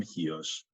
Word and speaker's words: Chios: Google Maps you'll see the island spelled with a CH iOS the people from hios and the Greeks in general they spell it with an X so it's X iOS yeah it's it's a